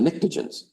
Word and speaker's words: pnictogen: And then next to them are the pnictogens. Starts with a P and the P is silent.